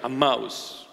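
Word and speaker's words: Emmaus: walking to aous am that's a proper pronunciation amous those two friends that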